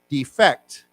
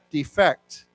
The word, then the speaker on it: defect: defect defect and then let's say it as a person to flee your country to run away from a country defect defect okay so the accent is on the second syllable okay so same word